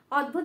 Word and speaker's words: অদ্ভুত: দেখো প্রথমে দ, তারপরে ভ উচ্চারণটা করব, অদ্ভুত।